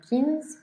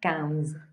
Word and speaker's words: quinze: Quinze, porque es una nasal, no quince, sino quinze.